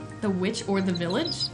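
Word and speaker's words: The VVitch: The Witch or The Village? It's called The Witch, but it's spelled with two V's, so sometimes I call it The Vivitch because it's like trying to be old-timey.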